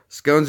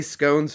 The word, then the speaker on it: scones: It's not scones how you say it. Yes, it is. S-C-O-N-E-S. Cones is spelled C-O-N-E-S. That's cones. So, cones. Scones. Done. We figured that one out. What is it? Scones? Scones? But there's an E. That would exaggerate the owns.